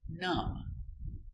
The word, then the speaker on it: numb: So, remember, pronunciation lamb, tomb, bomb, comb, honeycomb, and womb. Example, numb.